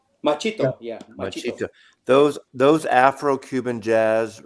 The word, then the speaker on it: Machito: with Dizzy Gillespie and machete uh how to pronounce his name yeah yeah machito machito yeah those those afro-cuban Jazz records um are